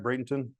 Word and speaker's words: Bradenton: And I found out because, and I don't know if, am I pronouncing that right, Bradenton?